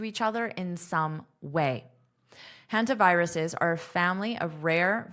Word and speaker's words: hantaviruses: This has to be pronounced as an extra syllable. Hantaviruses, viruses, viruses, viruses.